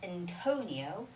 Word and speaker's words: Antonio: the word antonio antonio to is the place where we put this stress so it's antonio antonio antonio okay oh yes vanessa further